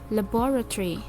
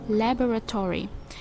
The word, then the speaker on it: laboratory: English as laboratory laboratory so in American English though what laboratory has do stress syllable it is placed in the first and fourth syllable so it becomes lab or laboratory laboratory and in British English it only has one syllable so we pronounce it laboratory in the poetry usually